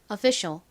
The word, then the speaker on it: official: 그 다음에 셔 소리 나는 C, I, A, L를 써주시면 완성입니다. 발음해 볼게요. official, official.